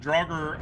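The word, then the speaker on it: Draugr: Uh, how how to pronounce drogger. Uh, drogger. I say it the way uh the way Skyrim says it.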